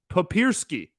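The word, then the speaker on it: Papierski: and I I think I'm right Pap puppy papersky that's what it is I found the phonetic pronunciation right here in front of me and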